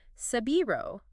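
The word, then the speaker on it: 背広: And the Japanese word for a fashionably cut suit is sabiro, which is their pronunciation of Savile Row.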